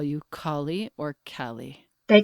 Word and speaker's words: Kallie: your first name because i started with cali then i migrated toward kali but i want to know how you pronounce it in your life right now uh mostly everybody who calls me cali yeah and i'm very happy it's better than kylie that's for sure no offense to any kylie's